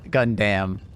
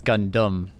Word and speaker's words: Gundam: I love I love how she says gundamn gamn it it's gundum oh Gundam yeah that's how they pronounce it look it's been a